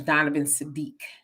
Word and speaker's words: Donovan Sadiq: But it's Donovan Sadiq. It just as his name is spelled.